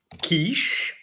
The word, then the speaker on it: quiche: of the day is in English it's pronounced Kish I think let's Discover